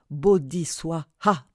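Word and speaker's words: bodhi svāhā: Gate, gate, paragate, parasamgate, bodhiswaha. Ce mantra prononce ainsi. Gate, gate, paragate, parasamgate, bodhi, suaya.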